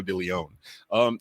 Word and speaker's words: Deleone: Deleone. I want to say that E for some reason there. Well, you're supposed to pronounce it with the E.